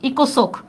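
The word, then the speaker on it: ECOSOC: এই দেখো, এটাকে আমি সংক্ষেপে লিখব, দেখো ইকোনমিক and social council, ইকোসোক, ইকোসোক, ইকোনমিক and social council, ইকোসোক। দেখছো উচ্চারণ করি কি আমার, ইকোসোক, মানে সংক্ষেপে আমরা তাড়াতাড়ি উচ্চারণ করার জন্য বলি ইকোসোক।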